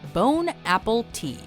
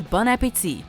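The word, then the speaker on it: bon appétit: highlighted by the caption bone Apple tea he doesn't speak French don't speak French to him it'll embarrass him for those of you who don't speak French the proper pronunciation is bunit and it basically translates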